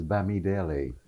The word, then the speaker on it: Bamidele: Oh, the first name is Bamidele, and it divides into syllables rather easily.